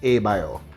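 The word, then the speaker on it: Abloh: The correct pronunciation is Abioth.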